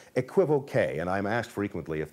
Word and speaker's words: equivoque: The word in French is pronounced équivoque, so equivoque is obviously wrong, but since it is